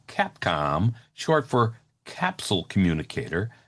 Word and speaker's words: Capcom: The problem is NASA used only the term Capcom, short for capsule communicator, not Capecom, ever.